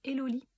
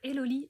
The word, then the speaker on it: Hélolie: Donc comme je vous disais, vous pouvez me retrouver sur Facebook, sur une page qui s'appelle Eloli.